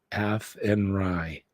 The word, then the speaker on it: Athenry: it's very windy the fields of atry is pronounced athenry a andry okay thank you it's like slan